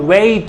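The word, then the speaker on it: wet: बेट होगा कहीं पे, बट यहाँ पे जो है, जो मैंने लिखा है, it's called वेट, इट्स नॉट bat, what is, it's called वेट।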